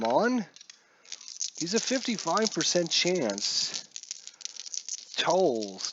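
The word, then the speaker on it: Towles: Tolles, T-O-W-L-E-S, I'm assuming you pronounce it Tolles.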